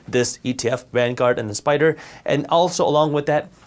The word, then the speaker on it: SPDR: VOO is an ETF made by Vanguard, and SPY is an ETF made by Spider, SPDR, they're pronounced Spider.